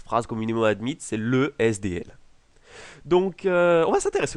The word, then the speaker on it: SDL: communément appelé SDL oui petite notification important lorsque vous avez un sigle qui est composé uniquement de conson il est très courant d'utiliser la prononciation des lettres une par une c'est-à-dire que vous devez dire SDL à la place de